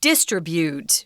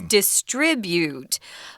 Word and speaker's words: distribute: of people in Taiwan say the verb distribute no its distribute but distribution sorry about that the same with contribute and contribution sorry we kind of